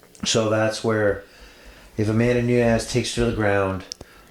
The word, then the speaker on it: Nunes: the caliber of Amanda Nunes. So Nunes. Nunes. One, because she's Brazilian, it's Portuguese. Is that the same? Nunes, yeah. Nunes, okay.